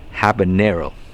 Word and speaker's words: habanero: with because habanero habanero i keep pronouncing that wrong but it's habanero so anyway these are really